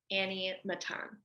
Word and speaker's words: Annie Matan: fantastic okay can you say it again kohenet Annie Matan yes perfect beautiful oh I love that and